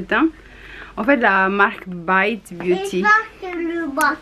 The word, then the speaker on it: Bite Beauty: En fait, la marque Bite Beauty, prononcée en anglais, puisque c'est anglais, ça veut dire mordre en anglais.